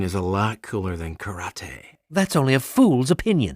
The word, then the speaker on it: karate: the whole point of karate to kick each other actually it's pronounced karate and there's a lot